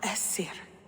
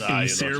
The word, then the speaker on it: Aesir: You are Esir. I am. It's pronounced Aesir, my dear.